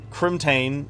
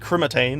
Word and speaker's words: crimtane: Teraria uh it was it's pronounced uh crimtane but I used to call it crian I added like an extra I or an A somewhere I don't know why my brain